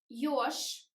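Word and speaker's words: ёж: Yosh, I write J, but pronounce Sh.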